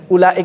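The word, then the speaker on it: أولئك: Kok enggak dibaca ula? Karena di atas wawu, bukan karena di atas wawunya sebetulnya. Lihat di atas wawunya ada tanda sifar mustadir. Walaupun sebetulnya ada atau tidak ada sifar mustadir, bacanya tetap pendek, ya. Ya kan? Baca tetap pendek.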